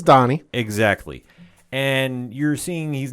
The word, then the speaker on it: Donnie: Not a mispronunciation. It is Donnie.